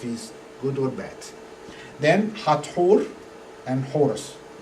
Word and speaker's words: Hathor: When you read the name here written in English letter, you pronounce Hathor. Yeah? But actually the original name, I say Hathor. Yeah? The original name is a combination of two words. Yeah? Hat, H-A-T, like hat, yeah?